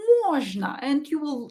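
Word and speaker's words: можно: stressed or is not stressed so we will pronounce it as a na so don't say mojno no say mujna and you will sound more like a native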